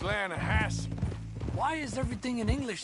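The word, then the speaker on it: Lannahechee: the other day i rode down to the lana hetchy river i caught some beautiful steelhead trout you mean atlanta hassie river no no no no no the the lana hatchy it runs right near here yeah but it's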